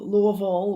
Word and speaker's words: Louisville: forward to that um i've been to um louisville within the past few months and going back